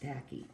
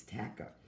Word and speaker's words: tachy: Where tachy, it's not pronounced tacky, it's tachy.